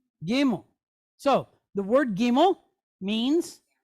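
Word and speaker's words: gimel: Which is gimmo. Gimmel.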